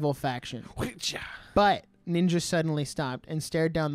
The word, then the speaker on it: Ninga: no so racist because they think like the G and the J make the same sound and I'm like no